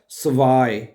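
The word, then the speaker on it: zwei: स्वाय, जेड जो है ना वो एस की आवाज प्रोनाउंस होती है, तो ये क्या बनेगा? स्वाय।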